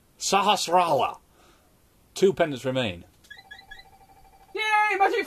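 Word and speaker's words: Sahasrahla: Take it to Sahara Shalal. I will learn how to pronounce this. Sahasrala. Sahasrala.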